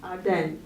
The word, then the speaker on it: Ardennes: This, in my opinion, is a very beautiful area, and if I might get the pronunciation wrong here, but it's the Belgium Ardennes, is that how you say it? Ardennes.